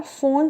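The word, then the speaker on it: von: इनका पूरा नाम है फ्रेडरिक कार्ल फोन सेवेग्नी। आप कहेंगे वी को एफ क्यों? क्योंकि ये जर्मन थे, और जर्मन में जो वी होता है उसको एफ ही पढ़ा जाता है।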